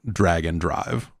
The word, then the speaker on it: Drag x Drive: Bryn is posting the Japanese and saying in Japanese they are definitely pronouncing it drag and drive.